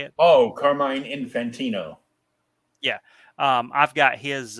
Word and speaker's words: Infantino: fantano how do you say it oh carmine infantino yeah um i've got his uh like complete